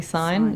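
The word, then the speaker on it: Scyne: the new PwC spin-off, I think it's Sign, definitely Sign.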